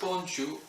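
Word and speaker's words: bonjour: say hello to friends and family and is pronounced bonjou however is also used with strangers is customary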